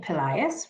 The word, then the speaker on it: Pillaias: glory certainly good morning i'm pillaias rhymes with the boy's name elias and i am the